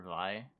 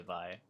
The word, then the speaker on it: Viy: morally okay to play vivo so nothing has changed hey listen here listen well i pronounce it vi and i will continue pronouncing it by until the day that i die oh and i just